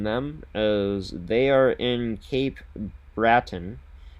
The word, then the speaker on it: Cape Breton: As for Garden City, got to mention them as they are in Cape Bratton or Cape Breton is I believe how it's pronounced for a tournament this upcoming weekend for themselves.